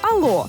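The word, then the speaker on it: allô: У французькій мові, де немає літери H, слово почали вимовляти просто як ало.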